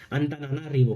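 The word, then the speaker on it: Antananarivo: Pronunciation एक बार देख लीजिएगा, एंतानाना रिवो।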